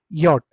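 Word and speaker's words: Jot: जे को हमेशा आपको क्या करके बोलना है एवरीवन? अल्फाबेट में यट। जे को आप हमेशा क्या बोलेंगे? अल्फाबेट में यट।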